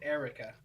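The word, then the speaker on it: Air-Wrecka: c k a and he's like no no I pronounce it Erica oh it was like air hyphen record it was like Erica brilliant There's an actual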